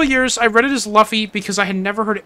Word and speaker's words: Luffy: got him some slack man but it is pronounced Luffy you're right Rick who's Luffy throw my break